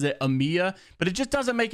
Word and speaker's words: EMEA: the comments because of the way that I pronounced e-m-e-a I know that everybody pronounces it Amia but it just doesn't make any sense it's literally an acronym so it should be said e-m-e-a you don't pronounce acronyms I mean some some